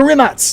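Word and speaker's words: Rimac: It's spelled like Remac, but it's pronounced Rimats like ATS, which is kind of cool.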